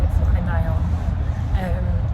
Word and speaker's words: FlyNyon: And we're in a taxi on the way to the FlyNyon. That's how you pronounce it, FlyNyon.